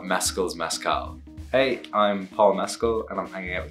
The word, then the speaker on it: Mescal: the drinking Mezcal everybody does this and I pronounce it mascal and I wonder if I launched a tequila line I would have to I would I would call it meskill's Mezcal hey I'm Paul Mesko and I'm hanging out with The Hollywood Reporter